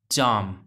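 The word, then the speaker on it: charm: Next है देखो, ये देखो चाम, तो यहाँ पे भी आपको ध्यान रखना है, आर के बाद एम आ रहा है, आर के बाद व्यंजन आ रहा है, आर साइलेंट रहेगा।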